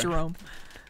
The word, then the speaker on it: Jerome: place who Jeremy me jome you're right Jerome Jerome pronounced Jerome but yeah no they